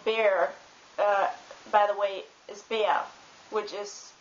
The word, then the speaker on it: Bär: The German word for bear, by the way, is Bär, which is pronounced B-A-R.